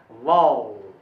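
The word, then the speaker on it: vowel: अच्छा, जिसको आप लोग वॉवेल कहते हैं, उसको वॉवेल नहीं बोला जाता है, उसका सही उच्चारण है वॉल, वॉल, ये सही उच्चारण है।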